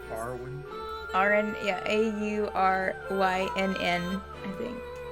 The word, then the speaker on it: Aurynn: It's pronounced Auryn.